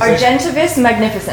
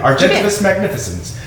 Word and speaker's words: Argentavis magnificens: Argentivis magnificens. Oh, I said it right. Argentivis magnificens.